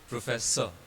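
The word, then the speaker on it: professeur: pronounced as Similarly, here R doesn't have E following it, so R becomes silent and we just pronounce it as professor, professor, professor.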